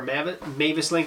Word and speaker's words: MavisLink: This is called the MavisLink, or MavisLink is how I would actually pronounce it.